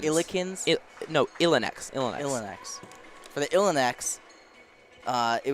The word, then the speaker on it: Illineks: How do you pronounce the Illikens? Illikens? Illineks.